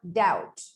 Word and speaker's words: doubt: explanations if you make a silent letter is a letter that is left unpronounced in a word it's as simple as that such as in the word plumber plumber or doubt doubt you simply don't make the sound of that letter you just simply don't mention it but it is not